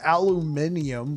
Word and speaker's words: aluminium: saying reposit aluminum I've also heard it pronounced aluminium but I'm like what no it's aluminum you yeah I'm a sub